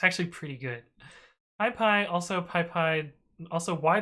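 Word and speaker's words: PyPI: how to pronounce p-y-p-i and additionally how to pronounce p-y-p-y and so the first one is pie pie pie pi oh this is so good and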